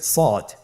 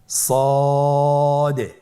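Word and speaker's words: ص: শুরুতে আমরা শুরু করছি সদ। সদ হরফটি পুর হরফ। মোটা হরফ উচ্চারণ ক্ষেত্রে মোটা করে পড়তে হবে এবং উচ্চারণ করার সময় তিন আলিফ টেনে পড়তে হবে। আপনারা আমার সাথে বলুন সদ আবার বলুন সদ।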